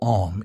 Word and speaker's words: Om: The syllable Om is made up of three distinct sounds, A, U, and M.